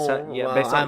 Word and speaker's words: Besson: Because apparently Luc Besson, which I believe is... Besson, because he's French.